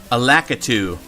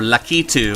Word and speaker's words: Lakitu: right now this guy is called a lakitu or lucky to I guess it's like a Japanese pronunciation of it he's a turtle monster